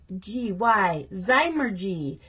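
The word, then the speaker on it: zymurgy: so we have to go learn how to pronounce it zymer g z-y-m-u-r-g-y zeimer g is a noun the study or practice of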